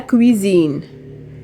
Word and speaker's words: cuisine: المطبخ la cuisine cuisine. رددوا معي cuisine. هذيك اس كنطقوا هاد الز لانها اونتر دو فويال جات ما بين اي و اي.